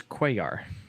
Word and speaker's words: Cuellar: argue worse than and proper pronunciation in his name was Cuellar Cuellar that guy cellular please let us know what you think about